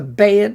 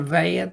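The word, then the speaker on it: בּ: This is a bayet, not a vayet, because it's got a dot.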